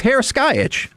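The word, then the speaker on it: Heraskevych: one of their skeleton performers, which look, I made the mistake of not looking up this pronunciation ahead of time. It's Vlatislav. Oh, it's Harris Skyitch.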